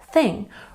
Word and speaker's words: thing: And number 9 is thing. Remember to put your tongue between your teeth for the TH sound.